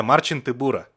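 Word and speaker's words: Marcin Tybura: next up is alexander volkov alexander volkov versus a marching tibura i think that's how you're supposed to pronounce it hang on i'm going to google it yeah marcin tibura uh in in uh in polish uh to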